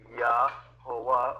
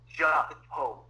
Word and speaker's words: Jehovah: And they pronounced it probably Yahovah, or if it's aggressive, like if it's a plosive sound, like Kingsley suggested, it's I'm sorry, I'm not even going to try. But it's not pronounced Jehovah. Even in Latin, when it was transliterated, it was not Jehovah.